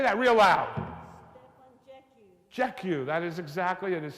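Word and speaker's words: Jackiw: pronounce the last name say that real loud jeu that is exactly it is spelled j a k a i w exactly Jack Q but a player you should have a recording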